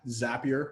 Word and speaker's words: Zapier: and for those of you that were wondering zapier Rimes was happier and that's how you pronounce it so zapier allows you to connect